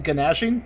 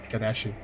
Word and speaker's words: gnashing: Did you just pronounce it G in Ganashing? Yes. Ganashing.